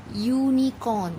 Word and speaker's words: unicorn: Unicorn, it is starting with U, but we are using A. Why? Because U, when you pronounce unicorn, it sounds like Y.